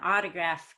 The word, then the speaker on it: autograph: syllables desperate autograph modernize so we can see how geography is different from autograph they stress geography goes one to the left an autograph goes two to the